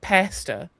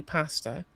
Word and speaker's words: pasta: because I'm being literally everyone on the internet is convinced that British people pronounce it pester when we don't. We say pasta.